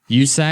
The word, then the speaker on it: USAC: that's funnier than Von what they call usack yeah oh usack the United States usack USAC yes that's still anation called